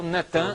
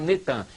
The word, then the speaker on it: Natan: No dia 4 de novembro de 2002, lança o nome do ex-primeiro-ministro de Al-Shorud de Israel, Natan, é Natan, eles já fizeram o sincretismo, botaram Netan, mas é Natan e Arro.